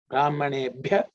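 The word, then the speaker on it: ब्राह्मणेभ्यः: In terms of pronunciation, there are no aspirate except this ebhya, brahmanebhya. That ib is fourth letter in the parvarga, so it has to be aspirated.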